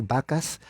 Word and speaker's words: Backus: Que se llama Isaac Backus, se pronuncia la U, y Benjamin Randall, and Samson Occam.